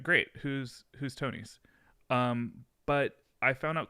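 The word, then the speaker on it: Thonis: at once to um tonys and uh this is a word that is spelled t-h-o-n uh but i was told it's pronounced tony's the tonys so it's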